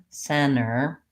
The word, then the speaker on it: center: really sound like Center center Center short M Center this is what we want to avoid okay